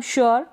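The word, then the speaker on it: sure: यहाँ पर हम यू का उच्चारण उ करके करते हैं या फिर यू, दोनों तरीके से इसका उच्चारण होता है, उ या यू। ठीक है, क्लियर हो गया। इसको पढ़ेंगे हम श्योर, क्या पढ़ेंगे श्योर, तो यू आर ई उ करके उच्चारण हो रहा है और यू करके हो रहा है।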